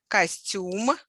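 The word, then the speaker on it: костюм: like theater yeah in russian it's the same word only stress is different costume the last sent syllable is stressed and it means any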